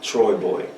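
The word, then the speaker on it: TroyBoi: Troy Boy. Okay, I'm looking for Troy Boy.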